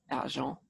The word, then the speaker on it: argent: Because if you know your Latin languages, silver, argentium, well, in French it's pronounced argent.